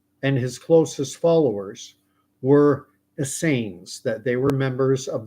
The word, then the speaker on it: Essene: you're unfamiliar completely unfamiliar with the Asain that's the way I'm going to pronounce it they were a monastic